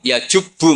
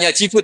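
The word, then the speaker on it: يجب: Terus Nabi ngendikan, "Alislamu yajubbu ma qoblah." Itu bacanya bukan yajibu tapi apa?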